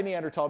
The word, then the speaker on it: Neanderthal: Many anthropologists like to say Neanderl because we like to break stereotypes. Um, and the place is said Neanderl. And in fact, when it came into English, it's spelled Neanderl Ensus. They give it a species name, Homony Neanderl Ennis, but with a th in Latin. You don't say the H.